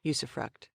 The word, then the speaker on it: usufruct: butchered the latin but that said i'm apparently pronouncing yusuffruct correctly i thought it was a german word